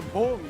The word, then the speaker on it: Bbong: The Bbong, you got to say it properly. It's got 2 B's.